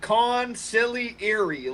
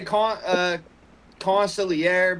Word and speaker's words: consigliere: I said I put consigliere, like Erie fucking like Yeah. Erie PA. Some people say the G, some people don't. Some people say consigliere, but I say consigliere.